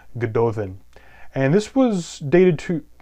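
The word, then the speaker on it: Gododdin: plum the ego then the double D's there are pronounced as a th sound good Dothan and this was dated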